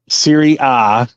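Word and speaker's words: Serie A: a Bundesliga just like in Italian it's Syria you don't say A you say ah yeah right because it's very ah that's the a is silent yeah Siri ah and then you got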